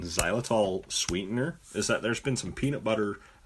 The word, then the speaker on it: xylitol: How do you pronounce that, Tim? Xylitol.